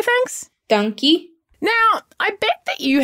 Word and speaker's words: Dankie: Dankie.